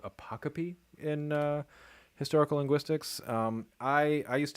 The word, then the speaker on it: apocope: So instead of apocope, I said pocope. Instead of haplology, which is when two repeated syllables merge into one, I just said haplogy.